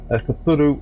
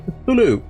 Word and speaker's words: Cthulhu: Cthulhu is the pronunciation of this, I believe.